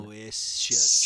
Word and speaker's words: Aloysius: Aloe, and then the Y is the I. And then Aloysius.